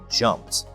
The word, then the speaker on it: jumped: The notes say that the p sound is also unvoiced. This means that we pronounce it as jumped.